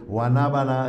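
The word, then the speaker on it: guanábana: Sour sap is just is just two syllables. Guanabana is four.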